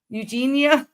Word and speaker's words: Eugenia: like um uh let me make sure I pronounce her name correctly uh is it Eugene Cooney Eugene is it Eugene Eugene Eugenia yes yeah yeah that's a really tough one